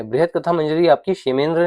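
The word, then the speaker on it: क्षेमेन्द्र: बृहत कथा मंजरी आपकी शमेंद्र ने लिखी है। इसे हम शे प्रोनाउंस करते हैं। शमेंद्र शे प्रोनाउंस कर सकते हैं इसे।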